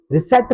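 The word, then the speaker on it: receipt: इसे रिसेप्ट नहीं पढ़ेंगे। गलत पढ़ रहा था मैं रिसेट पढ़ेंगे क्योंकि यहां पर भी पी साइलेंट होता है टी से पहले आने के बाद।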